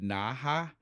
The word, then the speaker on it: Naha: It's n a ha. So there's only so many ways that could be done. And so naha is how I'm going.